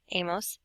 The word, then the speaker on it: hemos: How do you pronounce H's in Spanish? If you said you don't, you are correct. So this would be pronounced a, hemos, and habéis.